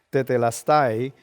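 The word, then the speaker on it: τετέλεσται: Lo que quiere decir consumado es para más decirte, en el idioma griego tetelestai, así es que se pronuncia, pero quiere decir, según el diccionario, finalizar algo, concluir algo, lograr algo, pagar algo, realizando algo y cumplido.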